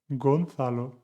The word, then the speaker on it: Gonzalo: And the last one, la última, 9. Gonzalo, suena como Gales.